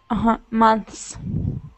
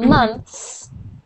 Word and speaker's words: months: Months. There, that's good. So when you were reading, we didn't hear the S. We only heard month.